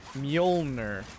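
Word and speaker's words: Mjölnir: How do you pronounce it? Mjolnir.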